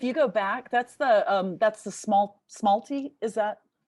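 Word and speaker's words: smalti: Kim, if you go back, that's the smalty. Is that how you pronounce it?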